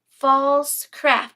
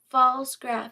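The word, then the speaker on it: Pfaltzgraff: False craft. Is that how you say it? False graph is how you pronounce it.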